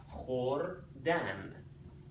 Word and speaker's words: خوردن: When you put K, H next to each other in Farsi, you pronounce that kh. Khordan.